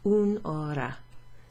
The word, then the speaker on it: un'ora: Un'ora has an apostrophe like that. So it's 3 syllables. Un'ora.